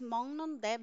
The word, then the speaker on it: 먹는데: So why I pronounce this as 먹는데? Because ki followed by n, it will sound as ng. Ski na sound as ng. So it will sound as 먹는데 아주 달아요.